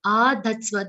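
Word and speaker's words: आधत्स्व: Mayyeva mana adatsva. Mayyeva and not mayeva. That ye sound should be correct. Mana adatsva. Dha is followed by a half the, half sa, and a complete va sound.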